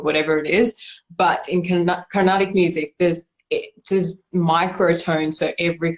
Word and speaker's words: Carnatic: She taught you how to sing Indian Carnatic music, if I'm pronouncing that correctly. Yes, yeah, exactly right. Traditional Indian Carnatic music is from the